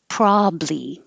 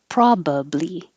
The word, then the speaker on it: probably: Probably. You can make it shorter by dropping that middle A, or you can keep it and make it 3 syllables. Probably.